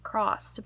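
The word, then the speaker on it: CRSSD: It's called Crossed, but it's spelled C-R-S-S-D.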